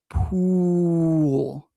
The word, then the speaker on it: pool: Is pool and pull pronounced the same? No. So the first one is pool, pool.